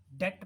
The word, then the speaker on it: debt: ऐसे बहुत सारे वर्ड्स है, जैसे एक वर्ड होता है DEBT, डेट पढ़ते हैं इसको, बी इसमें साइलेंट है, इसमें बी नहीं पढ़ना।